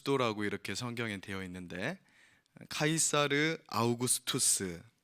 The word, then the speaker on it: 카이사르 아우구스투스: 이렇게 성경의 되어 있는데 카이사르 아우구스투스 성경이 옛날 분들은 이게 영어 발음이 안 되니까 본인들 들리는데 이렇게 적어 놓으신 거에요 그래서 가 249 수도